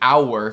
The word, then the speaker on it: hour: E queria mencionar, queria adicionar a mais uma palavra aqui, hour, que sempre tem duas sílabas, né, como hora em português, hour.